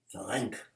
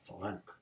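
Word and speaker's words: Farrenc: Ferenc. Can't pronounce that C too hard. Ferenc.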